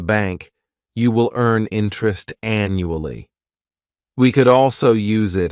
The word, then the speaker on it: annually: This word has 4 syllables, and the stress is on that first syllable. The second syllable, it's like you're just saying that letter U, and the third syllable has that schwa, annually.